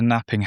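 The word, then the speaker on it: knapping: The other possibility was a napping hammer spelled with a silent K which has a smaller sharper head than a lump hammer.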